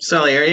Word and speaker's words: Salieri: Salieri, yeah.